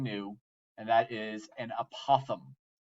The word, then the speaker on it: apothem: and that is an apothem sounds like my son who has a hard time pronouncing things saying a possum okay so I saw